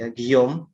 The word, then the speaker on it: Guillaume: tercipta dalam konspirasi teori terus ada giong bacanya Kiyomi orang Perancis Yagi Om bacanya gue tulisannya guillaume dia mengatakan literatur hadis